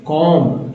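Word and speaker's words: comb: तो food grains, कॉम यहाँ जो है कॉम पढ़ेंगे, कॉम बी नहीं पढ़ना है, ठीक है, बी को साइलेंट किया गया है, कॉम पढ़ना है, एस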